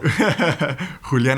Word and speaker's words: Julián: Can you just give us your exact pronunciation of your name, please? Spanish or English? Whatever you prefer to be called. Julián Araujo. Okay, the other one. Julián Araujo.